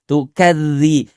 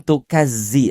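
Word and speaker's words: تُكَذِّ: Yang kedua, setelah kita sempurnakan kadar mad yang empat harakat tadi, ah kita perbaiki pengucapan huruf dzal. Tukadzi. Tukadzi bukan tukazzi.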